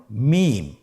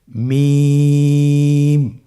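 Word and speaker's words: ميم: মিম। হরফটির নাম কি? মিম। মিম হরফটি উচ্চারণের ক্ষেত্রে অবশ্যই বারিক হবে, পাতলা হবে এবং 3 আলিফ টেনে উচ্চারণ করতে হবে। আমার সাথে আরেকবার চেষ্টা করুন। মিম।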